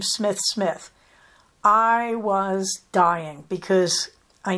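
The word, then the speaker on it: Smythe-Smith: they make very clear that the SMI Smiths pronounced their last name Smith Smith I was dying because I know that the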